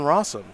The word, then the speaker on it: Rosum: bit more about jonathan rossum which of course his name rhymes with awesome which will probably not